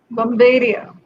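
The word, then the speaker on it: Bombairiya: Bomberia.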